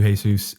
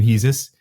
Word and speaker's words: Hesus: I know that some people call you Hesus. Yes. You pronounce sometimes your own name Hesus.